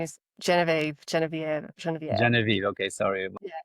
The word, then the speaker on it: Genevieve: Genevieve. Okay, sorry. Yeah. I pronounce it French style.